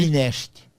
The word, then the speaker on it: Moinești: Moinești. Como é que se escreve?